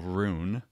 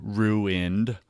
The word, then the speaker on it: ruin: storm in his life financial rune my wife corrects me ruined ruin it's two syllables honey two syllables um you know as